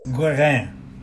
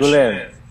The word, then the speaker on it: Guérin: But that's... Guérin. It's French. Guérin. Guérin. French. Yeah. Guérin.